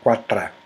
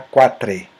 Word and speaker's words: quatre: metrô, fala, por exemplo, você fala em catalão, você fala quatra, mas no final, o tra não se escreve com A, se escreve com E. Então, mas se fala quatra, porque o E é átomo.